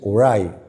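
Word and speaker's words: Uriah: ¿Sabe de que había un teólogo llamado eh Urías o Uray? Yo creo que se pronuncia en inglés Uray, pero yo soy salvoreño, tengo que pronunciarlo en en español.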